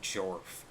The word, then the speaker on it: Gerfuggery: His description even just says like, I'm like, or even says like Gerfuggery, and then in parentheses, it's pronounced Jorf.